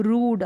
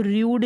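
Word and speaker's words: rude: फिर है रूड, अब इसको र्यूड नहीं पढ़ सकते, रूड, क्या, रूड।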